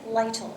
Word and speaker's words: Lytle: heritage of truth today our guest is lytle is that how you pronounce it that's it yes okay you have